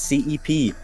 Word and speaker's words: CPE: We got a lot of comments saying they're pronouncing CPE's name wrong. It's CEP.